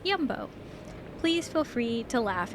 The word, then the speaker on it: Jumbo: drive 15 20 minutes fact pronounced jumbo but yumbo please feel free to